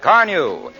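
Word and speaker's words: Carnu: Why not shine up your car with Johnson's Wax-Fortified Car New? It's spelled C-A-R-N-U.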